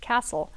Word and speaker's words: Kastl: name is spelled Kastl, but it is Right. pronounced Castle.